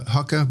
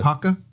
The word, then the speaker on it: haka: have to do the hucka before then yeah I've always I mean I'm a hucker am I saying it right yeah Haka yeah I'd say you you stress it a little bit more Haka H Haka uh